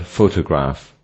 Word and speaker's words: photograph: Another example is the word photograph. The first syllable, pho, is stressed while the word has 3 syllables.